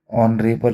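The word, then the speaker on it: honourable: इसको हावर तो नहीं पढ़ेंगे हम घंटे को, तो आवर होता है उसी तरीके से ऑनरेबल होता है। ओ औ यानी कि ऑनरेबल। तो प्रोनाउंसिएशन क्या हो रहा है? आवाज़ किससे शुरू हो रही है? अ से।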